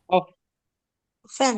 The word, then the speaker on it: offend: Offend. Offend. Offend. So the stress lies here on the second cell.